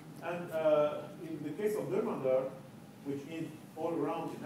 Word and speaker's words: Dermandar: And in the case of Dermandar, which means all around in Arabic, it's Dermandar, I would have to say that initially I